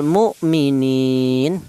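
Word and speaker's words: مُؤْمِنِينَ: Kemudian di sini ada lafal mu'minin. Mu yaitu ada berupa hamzah yang mati. Ini dibaca idhar karena ini hurufnya idhar yang mati, maka cara bacanya dibaca jelas mu'mi, seperti itu.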